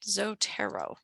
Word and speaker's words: Zotero: way down to the bottom and we hit zotero and I have a little pronunciation here zotero I'm going to make this